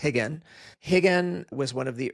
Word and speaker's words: Rigan: Portuguese, when the R is at the beginning of the word, it's pronounced H. That's why you'll see it written as Royce or Rigan, but it's Royce and it's Rigan.